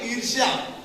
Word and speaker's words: ईर्ष्या: ईर्ष्या, जलन, ये बच्चा ईर्ष्या नहीं है, इसका हम उच्चारण करते हैं ईर्ष्या।